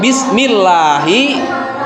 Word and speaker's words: bismillahi: Nah, itu dalam kalimat bismillahi itu lafaz Allahnya itu didahului oleh harokat kasroh, maka harus dibaca tipis. Jadi kalau dibaca tafhim, kalau dibaca tebal, jadi bismillah salah, pembacanya salah. Tapi yang betul itu adalah cara pembacaannya adalah bismillahi.